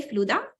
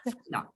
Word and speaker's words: Fluda: Do you say Fluda in Polish? Exactly. Polish? Perfect. Yes. Fluda.